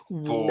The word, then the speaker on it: Wolford: All I know is the last thing before we cut the camera is like, it's pronounced Wolford, right? And you're like, yeah.